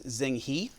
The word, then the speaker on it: Zheng He: So the Muslim explorer, a couple different pronunciations, but most common one is Zheng He.